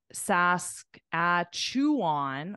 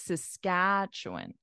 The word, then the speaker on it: Saskatchewan: that a lot of the reason why pronunciation is incorrect is because your syllable stress is in the wrong place so if you say uh Sask at chew on or something like that Saskatchewan it would sound really weird because it's Saskatchewan Saskatchewan exactly like you said